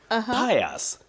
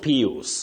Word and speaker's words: Pius: Pius, not Pius.